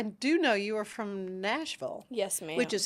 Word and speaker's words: Nashville: I do know you are from Nashville. Yes, ma'am. Which is how you pronounce it, not Nashville.